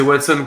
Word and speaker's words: Watson: prononcer comment Watson ah c'est Watson comme le pote de Sherlock ben oui et d'ailleurs